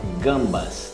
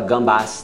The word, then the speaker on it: gambas: Ou então, gambas. Esse gambas, ele é aqueles maiores, né? Gamba. Não fala gambas, não. É gamba ou crevette.